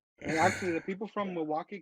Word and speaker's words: Milwaukee: no, because if when they say the word Milwaukee, a person not from Milwaukee will pronounce the L. A person from Milwaukee will pronounce not the L. So Milwaukee.